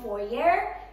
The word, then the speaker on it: foyer: I mean, the reason why we chose this house is because of the long foyer. Americans say foyer, but I think it's foyer.